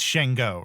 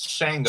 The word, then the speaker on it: Sango: I'm wrong, James, it's Shango, right? Yeah, it's Shango. Okay. It's Shango. I was gonna Shango, but with Shango. Shango. Yeah, sorry, Shango. Even though it's spelled Sango, it's pronounced Shango.